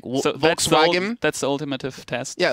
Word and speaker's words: Volkswagen: So if you ever hear like someone say Volkswagen, in English it's Volkswagen, in German it's Volkswagen.